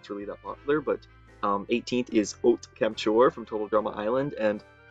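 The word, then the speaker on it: Haute Camp-ture: if it's really that popular, but 18th is Ot Kemptchor from Total Drama Island, and yes, I did look up how to pronounce that because it's a French word, and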